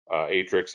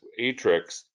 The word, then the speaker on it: Aatrix: new term for you atrix as you see it's spelled aatrix but notice atrix if i scroll down